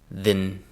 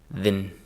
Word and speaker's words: then: So it's kind of again for the word then. The real world pronunciation is between uh and I. So listen to me say the real world pronunciation of then. Again then then.